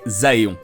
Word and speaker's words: Aéon: Bref, le thème d'aujourd'hui, les Aéons. Oui, je prononce ça Aéon et pas Éon, car je sais que le mot français est Éon.